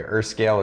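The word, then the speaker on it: Erskel: I'm going to spell this one for you Earth scale is e-r-s-k-e-l and then minteth is m-i-n-t-h-e-t-h basically that one of the H's is silent they're minteth and he is also a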